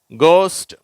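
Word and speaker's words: ghost: ஃப்னு உச்சரிப்பு வருது பார்க்கலாம் இது கோஸ்ட் சரியா இதுல க்ன்ற உச்சரிப்பு வருது லாப் காஃப் ரஃப் தோ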